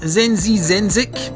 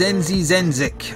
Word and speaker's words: Zenzizenzic: turn it down of zenzi zenic I think is how you would pronounce it by bit huffle and